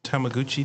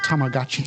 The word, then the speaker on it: Tamagotchi: Is it the little Tamaguchi things? No. Oh, and it's pronounced Tamagotchi.